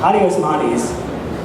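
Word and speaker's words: Addy Osmani: And Adi Osmani, is that how you pronounce his name?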